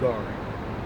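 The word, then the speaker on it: גר: It's pronounced Gar.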